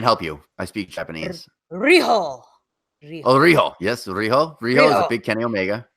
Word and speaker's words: Riho: We've got a triple threat match between Nyla Rose versus, and I'm going to pronounce this name wrong, Vance. I can help you. I speak Japanese. Riho.